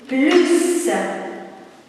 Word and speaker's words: plus: Plus. Et là, faites attention aussi ici, le S, on le lit. Ce n'est pas une lettre muette.